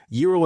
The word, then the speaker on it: Gyro: So, again, Euro and the Argonauts pronounced hero.